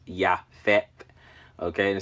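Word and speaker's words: Japheth: 15 in the Strong's and it's pronounced yeah fat okay and it says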